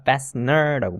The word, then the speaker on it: fastener: 그리고 ER 붙었으니까 fastener라고 부르면 되겠죠?